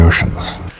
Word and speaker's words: oceans: protector the word oceans the spelling is entirely different but we have an sh sound sh sh sh o